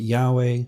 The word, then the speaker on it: Yahweh: as he's sometimes called is named yhwh we pronounce it Yahweh Jehovah actually is a dramatic transliteration from that so Yahweh uh Jehovah whatever that's the name that this